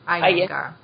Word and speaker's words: Iyengar: compare a little bit between how do you pronounce it, Iyengar or Iyengar? Iyengar.